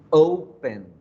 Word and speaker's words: open: consonante final b attention open open open tiene dos sílabas porque digo o pen pero cuando yo la pronunció digo oh pero la fuerza al agua en la o yo no digo open